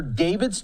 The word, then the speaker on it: D4vd: to see Dor Dorvid then they came out and said the boy just pronounced it David I'm like first of